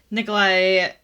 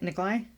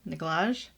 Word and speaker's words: Nikolai: Nikolai... Is that how you say it? Nikolai? Yep. Nikolaj? Oh, no.